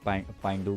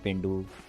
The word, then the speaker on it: pendu: इसके स्पेलिंग गलत है, तभी लोग भाई भी इसको पाइंडू बोल रहे थे। एक्चुअली में ये पेंडू है, इसके स्पेल होते हैं PENDU, पेंडू, ठीक है।